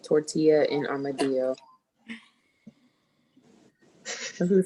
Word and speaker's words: tortilla: Tortilla. So a lot of people don't pronounce the double L because they don't know that in Spanish you have to pronounce the two letters, but it's tortilla. So next time, are you